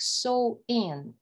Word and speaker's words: Samhain: The pronunciation is like Samhain, when people would light bonfires and wear costumes to ward off ghosts.